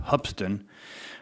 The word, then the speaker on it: Hoopeston: school called is pronounced it's spelled Hoopeston but it's really pronounced hubsan and I had after